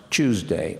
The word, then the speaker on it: Tuesday: So Tuesday in RP is now commonly pronounced Tuesday, on Tuesday.